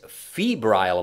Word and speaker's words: febrile: whoa okay the youth's febrile mind that's a weird word fab is that how you say it f-e-b-r-i-l-e abrelly yeah febrile yeah febrile like oh god whatever like february like